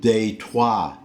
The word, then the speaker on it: Detroit: my city Detroit but they pronounced it date why date why because if you look at the spelling Det ROI T that's how a Frenchman would pronounce date Y also it was